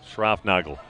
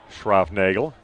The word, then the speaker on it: Schroffnagel: Schroffnagel, the correct pronunciation, but they are not opposed to someone calling him Schroffnagel.